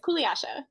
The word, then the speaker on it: Kuliasha: One of which is first of all, how do you pronounce your last name? Oh, you said it right. It's Koulasha.